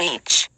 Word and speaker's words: Ea: They crossed into our world a long time ago under the Sumerian name Each, pronounced Ea, Lord and King of the SA.